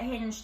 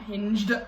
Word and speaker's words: Hinge: We should probably get Hinge to promote this video. Only if you say it right, because it's Hinge, not Hinged.